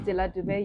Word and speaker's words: Delah Dube: My name is Delah Dube.